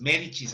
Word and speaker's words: Médicis: su hijo mayor cosme demédecis el viejo médicis médicis así se pronunciada sigamos ahora vamos a otra familia que